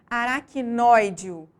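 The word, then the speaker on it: aracnoídeo: mais forte exemplificada que por aracnoideo observa em E aí é a sílaba mais forte é a antepenúltima por isso essa palavra é considerada proparoxítona bom então conforme a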